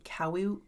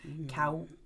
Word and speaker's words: Kaua'i: There is a spider called the Kaua'i Ca- Mhm, yep, it's called that right there. Kaua'i Okay.